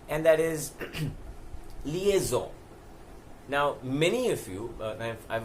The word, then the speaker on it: liaison: called lies or liaison most people like I said colonizing it is liaison the spelling of that also is interesting many people misspell it as Li ASO N and that's why they call it lies in it is not lies and known as the